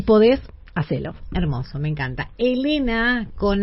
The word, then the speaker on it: Helena: Elena con h. Me encanta Elena con h, además. Eh, gracias, Elena con h.